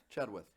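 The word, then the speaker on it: Chenoweth: Chadwith.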